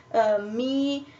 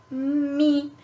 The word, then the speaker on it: me: phone me in Italian the equivalent is me so you pronounce it the same actually but you write it differently as you can see